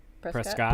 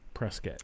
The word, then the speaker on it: Prescott: like Prescott Arizona a lot of people to pronounce it Prescott Oh Scott and it's Prescott they would let you know Charlotte so it's